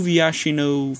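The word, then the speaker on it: Viashino: To Vyashino First Blade, I finally pronounced his name right.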